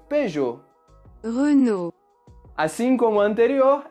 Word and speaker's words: Peugeot: Essa marca nós mantemos praticamente a mesma pronúncia original. Nós falamos Peugeot.